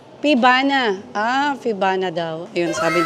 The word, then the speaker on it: Pievana: Paano i-pronounce 'yan? Ayan, tatanungin niya daw. Fivana, Fana. Fivana, Pibana.